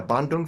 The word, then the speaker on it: Bandung: artistic director of um is it the Bandong Philarmonic am I saying it right in Indonesia? Yeah, Bondong Philarmonic in Indonesia.